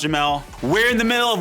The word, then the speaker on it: Jamal: Yo everybody, I'm Jamel, spelled Jamal, pronounced Jamel.